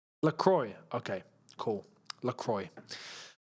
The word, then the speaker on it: Lacroix: I just know that that's a French-orientated name, and in the French accent, technically, it's LaCroix. Right? But I know the English don't say his name like that, so I was curious.